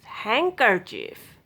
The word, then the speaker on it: handkerchief: D is not pronounced in DG together. These words batch, bridge, budget, H, fridge, judge. Some other common random words, they will be silent. This not pronounced in these words. Handkerchief, handsome, sandwich, Wednesday.